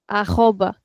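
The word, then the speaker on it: arroba: And this is this in Portuguese is called aoba. Aoba. So we don't say at the rate, we say aoba.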